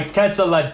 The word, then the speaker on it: Tesla: Because Can you take a second and acknowledge that Dan is adding an extra syllable to the word Tesla? Tesla, Is that driving anybody else crazy? my Tesla death ray. It was Nikola Tesla, not Tesla.